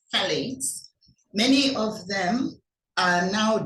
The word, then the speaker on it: phthalates: and the phthalates many it's pronounced phthalates many of them are